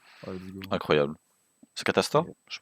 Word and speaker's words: Catastor: C'est Catastor, je prononce bien. Ah, c'est Catastor, oui, c'est ça.